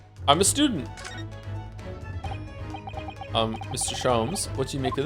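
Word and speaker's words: Sholmes: Shoms is pronounced the same as jams. Shoms.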